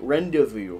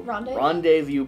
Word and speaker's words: rendezvous: written evidence points rendezvous rendezvous rendezvous points rendezvous is spelled way weirder than it is pronounced did you know there's a z in the middle of rendezvous ronda viewpoints it might